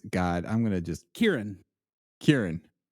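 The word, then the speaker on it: Ciarán: Kieran, but it's spelled way different than like Kieran Culkin. I've just always heard it's Kieran Hines.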